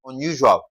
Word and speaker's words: unusual: The rule says if a word ends with ual, we should stress the what now? The second to the last syllable. So, we're having un, that's the first syllable, u, that's second syllable, okay? And zual. Now, what's the second to the last syllable? Zual. So, zual should be stressed.